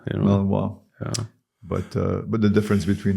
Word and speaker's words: Malinois: People learn it by now to say correctly Malinois. Malinois.